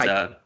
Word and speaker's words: Kaito: Yeah, It's Kaito. Kaito. Katsuya Kitamura. We have the power of the internet. I'm gonna just look this up right now. Yeah, Kaito Kitamura. Unless that's the No, Kaito Kiyomiya is the Noah guy.